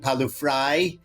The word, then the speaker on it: Pawliw-Fry: with Seth deckman our special guest is JP palu fry welcome to the show JP you say my